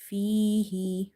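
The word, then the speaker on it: فيه: Fihi, fihi. Ya is madda because before ya sakina you have kasra. So read by stretching.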